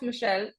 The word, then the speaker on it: Michelle: so to start of Michelle am I pronouncing your name right yes yes awesome to start off Michelle